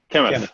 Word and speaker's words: Kamath: How do you Kamath. Okay. Almost like chemist.